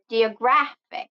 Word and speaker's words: geographic: So first rule is stress the second to the last syllable of the multisyllabic words if the word ends in IC. So the example will be ecstatic and geographic.